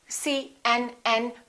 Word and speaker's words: CNN: When you say CNN, make sure that you don't pronounce each letter separately. Try to say it as one word.